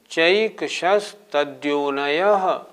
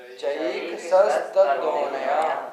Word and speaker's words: चैकशस्तद्योनयः: नहीं, चैकशस्तद्योनयः बोले, सही उच्चारण करें। चैकशस्तद्योनयः। चैकशस्तद्योनयः।